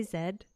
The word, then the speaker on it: Z: Um, and so I do have Did I say zed?